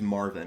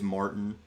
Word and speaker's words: Marvin: Oh, his name's Marvin. It would probably make me feel a little bit more endearing if I didn't constantly mispronounce his name. I don't think I've called him Marvin once. It's always Martin.